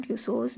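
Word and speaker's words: Tussauds: अब next heading आपने देनी है madam ट्यूसोज museum. N other interesting place से लेकर ये है स्टार्स ऑफ टुडे तक। मैडम ट्यूसोज म्यूजियम, ट्यूसो में ये डी साइलेंट रहेगा।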